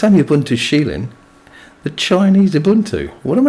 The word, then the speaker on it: Kylin: Or Kylin, if you want to say it how it's phonetically written. But it's pronounced Shieling.